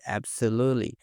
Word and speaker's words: absolutely: Primeiro temos essa palavra aqui, absolutely. Absolutely. Note que algo bem interessante é que a gente não pronuncia esse T e esse e aqui a gente pula direto pro lly.